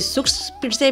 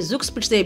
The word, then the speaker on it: Zugspitze: तो कुछ लोग इसे सुस पिटसे भी बोलते हैं और कुछ लोग इसे जुक्त स्पिटसे भी बोलते हैं। दोनों ही प्रोनाउंसिएशन सही है। इंग्लिश बोलने वाले लोग इसे जुक्त स्पिट से बोलते हैं और जर्मन बोलने वाले